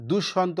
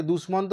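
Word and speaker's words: দুষ্মন্ত: আমরা বাংলায় বলবো তখন দুঃসন্ত বলবো অনেকে দুশমন্ত বলে দুশমন্ত হচ্ছে সংস্কৃত ভাষার একটা উচ্চারণ যেমন প দয়ে আমরা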